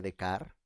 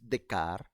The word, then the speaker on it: Descartes: ver el propio René de car como se dice en francés decar se escribe Descartes pero se pronuncia de car eso sobre el discurso